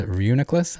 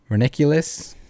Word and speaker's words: Reuniclus: you pronounce it uh for 10 years i thought it was ridiculous okay when i saw